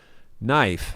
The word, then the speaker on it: knife: After we went live, David says, knife. The K is silent.